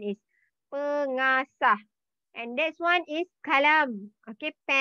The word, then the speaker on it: pengasah: Okay, you have to know the pronunciation is pengasah.